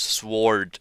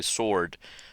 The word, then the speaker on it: sword: time I heard somebody pronounce sward with a W just like that. usually sword.